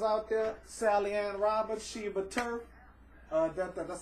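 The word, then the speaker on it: Sheba Turk: Sally Ann Roberts, Sheba Turf. That's how to pronounce her name.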